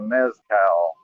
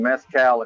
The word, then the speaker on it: mezcal: Tequila or mezcal. Mezcal, actually, I guess is how it's pronounced.